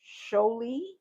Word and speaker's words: Xoli: I hope I do not pronounce this young lady's name wrong, but I believe her name is pronounced Sholi. It is spelled Xoli.